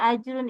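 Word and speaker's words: أجر: dengan Ik selanjutnya ajrun ajrun itu cara membacanya memantul atau disebut QQ yang terakhir Arun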